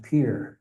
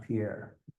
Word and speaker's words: Pierre: And the last one being it's pronounced Pierre, South Dakota, not Pierre.